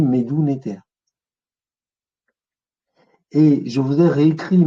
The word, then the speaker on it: Médou Netjer: y a une divinité, c'est le Néter. Donc on dit Médou Néter.